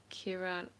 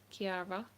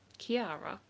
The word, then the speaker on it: Kiara: your name sorry uh Kira Kira am I saying that wrong Kiara Kiara is that how you say it yeah exactly it's one of those